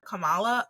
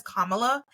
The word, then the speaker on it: Kamala: name in my head I've always heard Kamala but it is Kamala and I will try